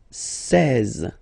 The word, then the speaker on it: seize: Now you get this seize, seize, same thing, final E doesn't exist, seize, E and E together, they give you the sound E, really open, seize, seize, okay?